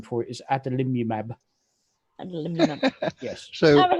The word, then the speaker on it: adalimumab: And the drug I take, its actual proper name is adalimumab.